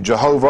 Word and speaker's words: Jehovah: pronounce pronounceable the y-h-w-h the Germans took it to made the y i j added vowels and so it became Jehovah you know because the V is a w in German and then other people